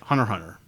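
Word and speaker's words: Hunter × Hunter: recommend an anime yes hunter hunter I have yeah I used to browse it like the way it's spelled hunter x hunter apparently that's a silence which one do i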